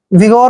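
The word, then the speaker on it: vigor: ई की मात्रा पढ़ते हैं और जी का उच्चारण ग करेंगे ओ को की मात्रा पढ़ेंगे और आर को र पढ़ते हैं विगोर होता है जोश विगोर मींस जोश यानी एक तरह से पावरफुल होना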